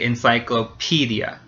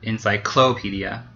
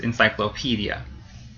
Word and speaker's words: encyclopedia: one is correct and it's the fourth syllable the P so we say encyclopedia not encyclopedia that sounds weird that's not the right word it's encyclopedia so the PE syllable gets stressed and U in English